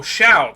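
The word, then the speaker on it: Hsiao: That shall Oh, Shiao. That's how that's pronounced. That's enough chatting for now. I wouldn't want to be accused of rambling like an old man. Note to self, the hs makes the sh sound.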